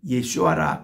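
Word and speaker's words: ישוע: 예수하라 하리라 그렇게 말씀하셨습니다 유대인 발음으로 예수를 예슈아라 그렇게 가늠하고요 이거를 헬라식으로 표현하면 예수수라고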